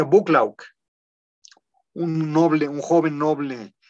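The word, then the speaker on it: Buccleuch: noble el conde de bucklaw se escribe de una escritura en medio difícil se escribe algo así como con bosques no se pronuncia bucklaw un noble un joven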